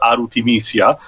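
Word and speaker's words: Ultimecia: the name was pronounced, the name was supposed to be pronounced Artemisia, was supposed to be essentially a Japanization of that, Artemisia.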